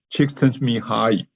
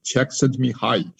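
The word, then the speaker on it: Csikszentmihalyi: be very happy so check sent me hi that's his name how to pronounce it and that's how he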